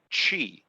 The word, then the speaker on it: Qi: today is almost ubiquitous in the form of qi or sometimes pronounced chi and it's a simple